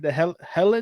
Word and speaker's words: Heliand: The Heliand?